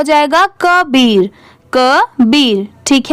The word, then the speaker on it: Kabir: अब जैसे यहाँ पर देखिए KA क्या हो जाएगा? क। यहाँ पर इसकी प्रोनाउंसिएशन का नहीं होगी क्योंकि का को हम लोग इंग्लिश में क्या लिखते हैं? KAA। KA को क्या पढ़ेंगे? क। और BIR को क्या पढ़ेंगे? बीर।